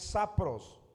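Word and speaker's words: σαπρός: viene de la transliteración es sapros. Sapros con acento en la o la palabra en el griego que se traduce por corrompida, sapros, y es putrefacta.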